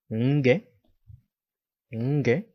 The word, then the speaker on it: nge: Nge, nge, it's a scorpion. The N sound usually comes from the nose.